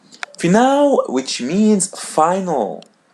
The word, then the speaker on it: final: L in English but when it comes in the end we pronounce it as W. For example the word final final final which means final.